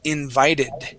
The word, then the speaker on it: invited: Okay, so let's talk about the V sound. When we pronounce a V, okay, it's similar to the Spanish F. Okay, meaning that our teeth, these here, we place them right on our bottom lip, like that, okay?